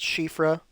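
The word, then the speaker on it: Siofra: being an underground river I'm pretty sure it's pronounced shifra because it's um I believe meant to be a Welsh Gaelic word and I the sio I think is pronounced she but I'm not fluent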